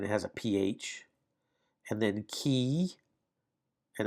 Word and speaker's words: chi: And then key, and that's the German CH, and ach, ach. You can kind of hear that ach, the kind of the CH sound. But that's pronounced key.